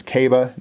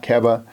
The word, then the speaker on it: Keba: So, but Keba Keita, and that is how you pronounce his name. It's Keba, not Keba.